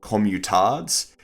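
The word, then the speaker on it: communard: The French army killed 30,000 commutards. Yes, I believe that's the French pronunciation.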